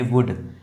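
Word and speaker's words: would: यहां पर भी एल साइलेंट है। इसको पढ़ेंगे वुड।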